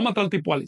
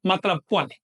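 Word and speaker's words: Matlacpohualli: No Matlaltipuali, sino Matlac Puali.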